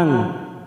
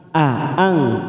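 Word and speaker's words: أَأَنتُمْ: am nahnuzzariun a Antum ada dua huruf hamzah Ya seperti yang tadi tidak boleh kita lunakkan tetapi kita putus bacanya a A ang Aang tidak boleh Ang tetapi A ang Aum nun sukun bertemu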